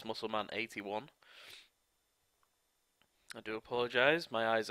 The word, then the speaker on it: MuscleMan81: I have just realised I pronounced his name wrong to start off with. It's MuscleMan81.